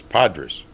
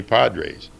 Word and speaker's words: Podres: lot they say Padres actually the right pronunciation is Padres but when I got to the bigleys they call me Johnny Padres and I want to